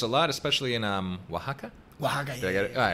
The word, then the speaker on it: Oaxaca: Oaxaca, did yeah. I get it? Yeah. Oh, I pronounced it right.